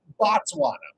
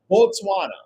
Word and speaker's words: Botswana: So here's where it gets really confusing because we will mispronounce Botswana as Botswana but it's actually pronounced Botswana and a single person